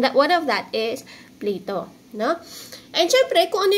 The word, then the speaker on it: Plato: Okay, this is Plato ha. This is how you pronounce it.